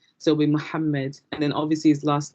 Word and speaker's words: Muhammad: And in Arabic, when you're pronouncing a name with a double letter, you have to emphasize those two letters. So it'll be Muhammad rather than Muhammad. So it'll be Muhammad, and then obviously his